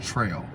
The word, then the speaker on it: Terrell: my own name correctly my name is actually pronounced Trail whatever was going on there the E really has no sound but uh looks like Terrell so I pronounce it Terrell sad huh but anyway